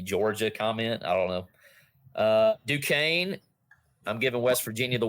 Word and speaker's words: Duquesne: It's pronounced Duquesne. Duquesne.